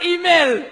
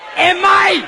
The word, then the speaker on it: email: On ne dit pas email. Ça se prononce émail. Comme dans les dents, l'émail de...